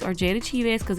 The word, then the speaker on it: Cheaves: know J wa Jada CH or Jada chz cuz every time I say CH or chz somebody said I'm saying it wrong so I'm just going